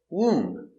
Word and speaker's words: womb: explode very good example womb no B just womb womb the baby is